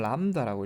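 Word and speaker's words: lambda: 읽을 때는 람다라고 읽고요. 람다, B는 묵음이네요.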